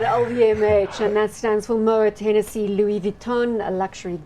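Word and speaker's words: Moët: Somebody told me it's like what you do with the lawnmower to the lawn. Moet. Moet.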